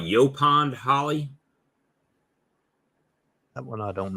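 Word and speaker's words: yaupon: before you see it you pond holly oh it's spelled it's spelled differently it's y-a-u-p-o-n tritone said they got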